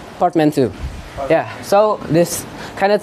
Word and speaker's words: portmanteau: So as you can see, the spelling is portmanteau, yeah, but the pronunciation is portmanteau.